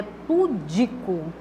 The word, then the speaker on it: pudico: formal da linguagem né a sílaba que deve ser pronunciada de forma mais vidente mas é vidência né é a segunda tá eu é pudico e não da forma como